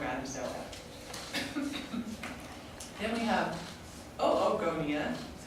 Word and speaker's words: oogonia: which is from Adam Saleh then we have oogonia that's how you pronounce that are the gerb cells that will